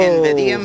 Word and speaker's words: Invidium: Invidium, if you want to pronounce it correctly.